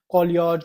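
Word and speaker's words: cholagogue: ओ एल ए जी ओ जी यू ई कोलियोज कोलियोग जो आपने pronounce करना है स्पेलिंग बता दूं सी एच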